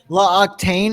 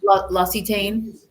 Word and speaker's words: L'Occitane: L'Occitane, how do you say that again? L'Occitane.